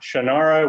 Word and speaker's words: Shannara: right way to say the title is shannaranat shannara which reminded me conversation i had with ray bradbury somebody else had mispronounced his famous book title as 451 and and he said no it's fahrenheit 451.